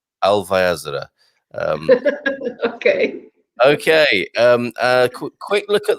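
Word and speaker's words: Alvaiázere: I'll pronounce his town correctly. Alvaiazara.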